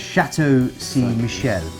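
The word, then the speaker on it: Chateau Ste. Michelle: And this is in partnership with, and I'm going to get my pronunciation really wrong. Why you're doing this? Chateau Saint Michel.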